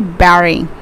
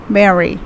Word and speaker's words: buried: not barry it's actually barry it's just as same as strawberry okay so it's pronounced as barry remember this he was